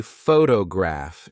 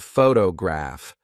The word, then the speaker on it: photograph: For example, if you say photograph instead of photograph, the listener may be confused.